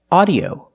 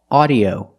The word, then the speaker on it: audio: The rule is AU is normally pronounced with the sound AW, like audio, automobile, and daughter. Make the sound back here. AW, audio, automobile, daughter.